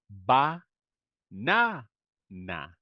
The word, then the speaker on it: banana: So I don't say ba na na, right? As you can see, we have a schwa, and then I say b B banana. It's banana.